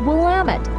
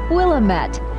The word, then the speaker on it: Willamette: on the Willamette River notice that the correct pronunciation is Willamette not Willamette the river is a playground for boating riverboat